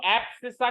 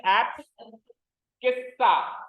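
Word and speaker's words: abscissa: ठीक है, वैसे तो एप्सिसा होता है, वैसे तो एप्सिसा होता है, बट केवल याद करने के पर्पज से भाई हमको इसकी स्पेलिंग याद हो जाए, कैसे कह सकते हैं अपन तो एप्स किस्सा।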